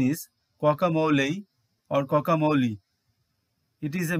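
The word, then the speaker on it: guacamole: and other edable things word number 25 its pronunciation is camole or camole it is a Mexican dish made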